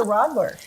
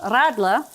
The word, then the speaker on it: Radler: And then they have the Radler. Mm-hmm. And don't you like how she says that? You got to roll your R.